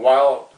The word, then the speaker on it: Wilde: I wrote a song actually it's on the internet under my artist name, Wilde, like Oscar Wilde, it's spelled W-I-L-D-E, Wild Spider with a Martini Y.